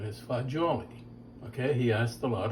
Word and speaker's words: fagioli: that when he made pasta fagioli, the correct pronunciation is fagioli. Okay, he asked a lot of Italians, and that's what they said. And I know that's what it is. Now, you hear pasta fazool.